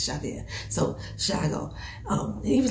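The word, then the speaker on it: Tiago: And Raphael, like, me, his real name is Shago. That's how you pronounce it. T-I-A-G-O. It's pronounced Shago.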